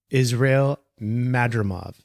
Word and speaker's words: Israel Madrimov: Let me double check the pronunciation there. Israel Madrimov is how you say his name.